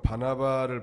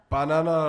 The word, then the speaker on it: 바나바: 누구하고 누구예요 엇 사람은 바나바를 발음을 잘못 해가지고 바나나 라고 하는 사람이 있는데 바나나는 남 입니다 바나바와 사올 아무 털사